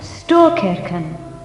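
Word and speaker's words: Storkyrkan: Yesterday, when we visited the great church, you pronounced it Storkirken.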